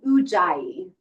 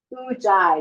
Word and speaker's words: Ujjayi: Ujjayi. Ujjayi.